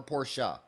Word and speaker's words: Porsche: You can tell Yeah, by driving a Mercedes or a Porsche. Is it pronounced Porsche or Porsche? Porsche. Porsche. Yep.